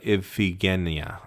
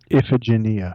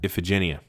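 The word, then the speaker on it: Iphigenia: from by killing uh ifia. I can never say her name right. Ephagenia. Ifagenia. Sorry, the Latinist in me wants to make it all a hard gy.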